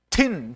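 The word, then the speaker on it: טִין: 철의 견과함으로부터 모든 것 앞에서 하야 할 것이지만 보시니 철과 먼지 같은 진흙과 섞인 것이라 그랬는데요.이 먼지 같다라는 말은 틴 틴이라고 읽는데요.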